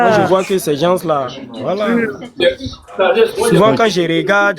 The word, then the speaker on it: gens: Souvent, quand je regarde, je me dis que ces gens-là, ils n'aiment pas la vérité parce que. Alors, déjà, ce regarde, dernier-là. Alors, regarde, je vais t'apprendre le français. Le S ne se prononce pas.